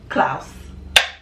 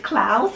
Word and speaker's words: Klaus: ever talk about Netflix this new Christmas movie Klaus no they're not attached why aren't they attached